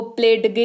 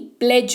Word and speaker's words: pledge: PLEDGE, इसको प्लेडगे नहीं, प्लेज पढ़ते हैं, जिसका मतलब होता है शपथ।